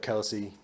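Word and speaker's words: Kelce: second okay travis kelsey his actual last name pronunciation is kels but it was pronounced kelsey so much in the media that he just never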